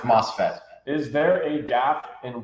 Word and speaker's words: MOSFET: There have been a lot of questions about this NOSFET company. This is an interesting question. Pronounced MOSFET.